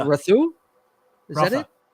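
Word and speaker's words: Rautha: How do you pronounce Fade's last name? Fade Rotha. Rathu? Is that it? Rotha.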